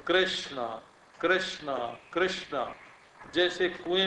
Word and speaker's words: कृष्ण: आप बोलते हैं कृष्ण तो क के उच्चारण में आपके कंठ में एक स्पंदन होगा क क क और री के उच्चारण में आपके सिर में एक स्पंदन होगा माने कृष्ण बोलते समय आप नीचे से ऊपर गए और वहां नान जो है मूर्धन्य श और ण दोनों मूर्धन्य है तो री ने तो